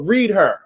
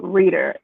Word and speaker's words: ReadHer: let's get into it read her how about and what made you start read her yeah so it's actually it's so funny enough it's actually pronounced reader the h is silent nancy right it's just